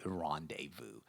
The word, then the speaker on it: rendezvous: This is a rendezvous. Rendezvous. Pay attention to the pronunciation because the spelling is very, very different.